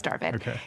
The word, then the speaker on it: Darvid: impression rose starvid darvid i like how you say it yeah it's darvin he is persian and